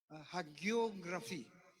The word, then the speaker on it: hagiography: Because the Sufis also had their own hagiography. Tama ba yung pronunciation ko?